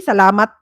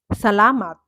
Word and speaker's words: salamat: Oh, which syllable has a stress on it is sometimes different too. Salamat. Salamat. You say salamat. Maybe because maybe you've been watching foreigners saying salamat and they don't say salamat.